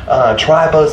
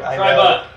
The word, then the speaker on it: Trai Bo: Tribo's in the house. Can we get a what? I'm saying it wrong. Tribo.